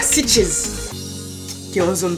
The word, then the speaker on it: Sitges: ça parce que c'est S-I-T-G-E-S. Ben, si on le prononce de façon espagnole, on dirait Sitges. Mais bon, je vais la faire en mode anglophone.